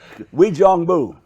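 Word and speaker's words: Uijeongbu: Wijeongbu.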